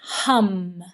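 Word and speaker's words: ham: the particular chakra and the sound for here is hum H A M H. And then you can do this um chanting hum out loud.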